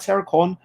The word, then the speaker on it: Airecon: um and oh aircon when i talk about aircon it's not air conditioning it's air spelled with an e a i r e so there is a